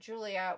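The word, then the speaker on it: Giulia: NXT NXT Julia gulia cuz her name is spelled like gulia mhm but it pronounce it Julia which creeps me out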